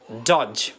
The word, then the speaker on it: dodge: Next comes डॉज। डॉज के माने होता है चकमा देना, डॉज। आप देख लें DODGE, तो डी यहाँ पर साइलेंट है, डी नहीं पढ़ेंगे, समझ में आ गई